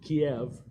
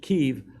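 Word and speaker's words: Kyiv: through Kiev that's how they pronounce it Russians pronounce it Kiev but ukrainians pronounce it Kiev all the way to Eugene casachenko city of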